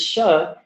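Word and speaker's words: श: You should form your mouth like you're about to say E, but instead you say sa.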